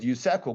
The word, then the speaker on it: USAKO: It's called, we pronounce it USAKO Group. I'll help you to memorize it. USAKO Group, United States of America, KO, my last name.